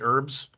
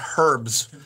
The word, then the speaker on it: herbs: vehicle traveling north on wait, I don't say an H. I say it like Americans. I say herbs. That's an easy one. But, in all the Harry Potter movies, they say herbs.